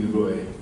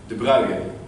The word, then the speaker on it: de Broglie: And there's our dear friend Louis de Broglie. De Broglie, I think it is properly pronounced in French. De Broglie. En français. Louis de Broglie.